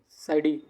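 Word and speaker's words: psidii: Pathogen variety साइडी, P silent है, साइडी।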